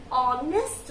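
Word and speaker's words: honest: तो यदि हम हिंदी के थ्रू जाएं तो यहाँ पर एच ओ, जब मैंने इसका प्रोनाउंसिएशन किया तो ये बन गया ऑनेस्ट मैन। तो यहाँ पर अब ये दिखने में एच लग रहा है कॉन्सोनेंट, बट एच यहाँ पर साइलेंट हो चुका है, तो स्पेलिंग हमारा ओ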